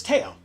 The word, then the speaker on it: Teo: Marcus says it's pronounced the same as the Planeswalker. Oh, cool. So it's Teo. Oh, okay.